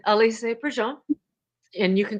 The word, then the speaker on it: Alisé: Today, we have Alisé.